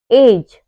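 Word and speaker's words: judge: तो हमारा letter D जो होता है वह साइलेंट रहता है जैसे एग्जांपल है ब्रिज जज हेज वेज इन सब में क्या आ रहा है डी के बाद जी आ रहा है जैसे एज जज में क्या आ रहा है डी के बाद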